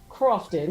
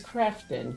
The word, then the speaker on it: Crafton: It is not Crofton, it's Crafton, right?